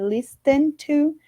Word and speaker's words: listen: Eu sei, tem um T aí na palavra, mas em alguns casos no inglês, quando nós temos esse encontro de ST, muitas vezes esse T ele não tem o som pronunciado, né? Como o T que nós conhecemos no português.